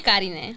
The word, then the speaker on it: Garineh: So I thought, who better than none other Miss Garineh? Is that how to say it right? Yeah. Yeah, you say it perfectly for me. Garineh.